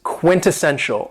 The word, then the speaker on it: quintessential: very cool adjective is quintessential and this word has four syllables and the stress is on the third syllable Quinta Sen show quintessential and when we say